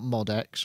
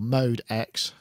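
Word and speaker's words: MODX: We've got the Yamaha Mo DX, which I know now that that's how you say it, not Mod X or Mod or Mod X or Mode X, Mo DX.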